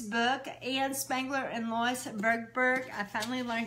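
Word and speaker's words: Tverberg: Ann Spangler and Lois Bergberg.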